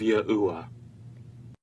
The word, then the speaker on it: YAHUAH: What you're going to discover is that the key historical figures and the overwhelming historical evidence points to the phonetic pronunciation of YAHUAH.